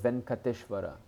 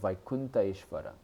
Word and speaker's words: Venkateshvara: And actually, Lord, in South India, Lord Venkateshvara. Actually, the proper pronunciation is Lord Vaikunta Ishvara. It's not Venkateshvara. Venkateshvara has no meaning, Prabhupada said. It should be Vaikunta Ishvara.